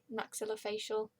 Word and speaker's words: maxillofacial: and there was a there was no um maxillofacial that's how you pronounce it so they transferred me to another